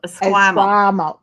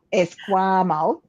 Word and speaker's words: Esquimalt: Esquimalt. Esquimalt.